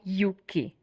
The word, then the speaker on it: Euky: went like English right you know how the EU in Europe it's pronounced U so that's why Yuki and now when I